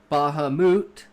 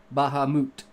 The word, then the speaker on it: Bahamut: In context, Bahamut to me is actually a Japanese word because it comes from Final Fantasy.